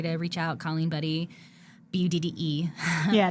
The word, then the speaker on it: Budde: Colleen Budde, Budde. Yeah, not Y. But it's pronounced Buddy, like Buddy the Elf.